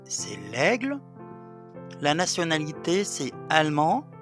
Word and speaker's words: allemand: l'aigle la nationalité c'est allemand avec un D qu'on prononce pas et allemande avec e